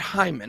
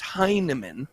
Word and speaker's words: Hinman: know william heinemann this is the guy not hyman it's heinemann okay okay i'm just making sure you all